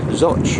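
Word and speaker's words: Zouch: we are currently in soch spelled zooch but pronounced zotch a little bit more river the locks in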